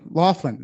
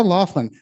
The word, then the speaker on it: Loglin: non-jewelry to sarah loglin that is pronounced laughlin um sarah laughlin best 3d non jewelry